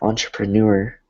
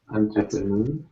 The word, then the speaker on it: entrepreneur: So we can take the words that we know, like entree, and then entre. We can apply the same. It's very similar sounding, right? And it's spelled the same. So entrepreneur, you can break it down.